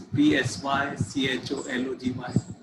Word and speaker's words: psychology: They begin with different spellings, P-S-Y, C-H-O-L-O-G-Y. So the spelling begins with P letter, but it is psychology. Sa, the pronunciation begins with sa, pa is silent.